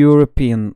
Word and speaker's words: European: de yine Avrupalı demektir bunda e harfi ile yazarız ama olurken yee okuruz bir Avrupalı derken Ey European olur da yine aynı şekilde